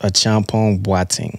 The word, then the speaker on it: Acheampong-Boateng: So, I've my parents are from Ghana, so it's pronounced Acheampong-Boateng.